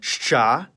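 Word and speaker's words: Ш: It's called sha, and like its name, it makes the sound sh.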